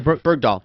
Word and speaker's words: Bergdahl: So this guy am I pronouncing his name? Bergdahl.